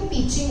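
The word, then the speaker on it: Beijing: China की जो capital है बीजिंग, आप लोग बीजिंग बोलते हो, एक्चुअली वो पीचिंग होती है, उसका रीजन है। बी की प्रोनाउंसिएशन होती है प, जे की प्रोनाउंसिएशन होती है च।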